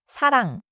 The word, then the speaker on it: 사랑: Listen to the ending. 사랑. 사랑. My tongue is not popping open at the end.